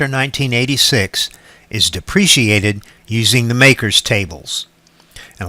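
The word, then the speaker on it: MACRS: accelerated cost recovery system most often pronounced makers is one of the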